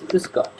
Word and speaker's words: Grüß Gott: Grüß Gott.